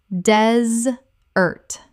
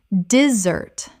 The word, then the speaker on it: desert: Desert. Dez-ert, noun, the dry landscape. Or diss-ert, verb, to abandon. Dessert. Dessert. The sweet course after a meal. The noun desert has stress on the first syllable. The dessert we eat and the verb to desert both have stress on the second.